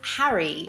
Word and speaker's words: Harry: In British English, I pronounce the name of this character as Harry, which is not the same as hairy, which means a person with a lot of hair.